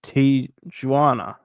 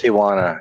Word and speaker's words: Tijuana: I'm not even going to pronounce that name. Tana. I don't know. I think you guys like to um play around with me. But my name's Tana. It's Tijuana.